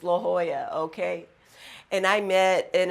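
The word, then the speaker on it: La Jolla: when I moved to California I called it Lajoie but I now know it's pronounced La Hoya okay and I met an attorney and my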